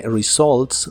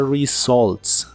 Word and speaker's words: results: ifica con los resultados la u de results suena como una O con un toque del sonido a with the results with the results y